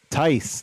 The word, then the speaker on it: Tice: Tice. There we go. That's what it is.